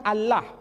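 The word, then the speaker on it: الله: Tidak ada seorang pun di kalangan masyarakat Timur Tengah ketika menjumpai istilah Alif, Lam, Lam, Ha dibaca Allah. Tetapi mereka serempak menyebutnya dengan pronunciation Allah.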